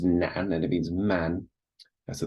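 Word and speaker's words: 男: So this is pronounced nan, and it means man.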